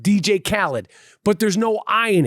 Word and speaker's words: Khaled: a thing about dj khaled right dj khaled khalid who i mispronounced his name all the time not on